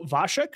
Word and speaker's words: Vasek: He is Slavic or from Czech, so Vasek should be the right way to say it.